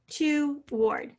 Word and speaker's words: toward: I like doing this in syllables, toward. Here's our word to. Ward, W-A-R-D. That's a little hard to hear. I would underline the A-R in that case because it doesn't quite sound like R.